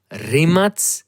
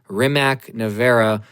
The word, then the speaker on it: Rimac: First of all, how do you properly pronounce the name of this company and this car? It is rim nea rimat ne. Okay, stop saying rimac.